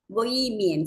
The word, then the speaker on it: bohemian: Bohemian. So what might be the meaning of or synonym of bohemian? Bohemian, H is silent here.